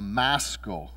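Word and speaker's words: Maschil: bibles may say a maskal of david uh some of them are are spelled m-a-s-k-i-l and some of your translations may spell it m-a-s-c-h-i-l but it's a maskal this is one of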